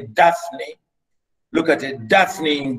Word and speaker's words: Daphne: You can see it, and this is how we pronounce it. We say Daphne.